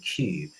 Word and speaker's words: Qube: I mean, there is actually a tool out there called Cube, which is spelled Qube, which is used, I don't know if you're aware of it, called, it's led by Professor Eddie Obeng.